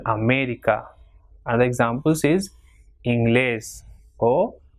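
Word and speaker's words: América: For example, America, ending in A but not, the stress is not in the second last, so it will have the accent mark on E, that is America.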